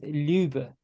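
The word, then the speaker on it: leubh: Proto proto-indo-european root meaning of love you get lube which is spelled l-e-u-b-h um and uh it forms all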